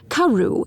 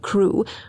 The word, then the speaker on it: Crewe: Madame Pascal pronounced it as if it were karu instead of crew, but that might merely be a matter of pronunciation.